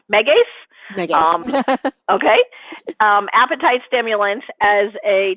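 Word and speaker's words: Megace: do you recommend an appetite stimulant such as m'g us or something else okay um not to correct you but that would be pronounced Megas okay appetite stimulants as a just to make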